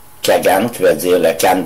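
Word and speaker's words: Khaghan: Leur chef, le Kagan, qui s'écrit K majuscule H-A-G-H-A-N, Kagan, qui veut dire le Khan des Khans, ça veut dire le roi des rois.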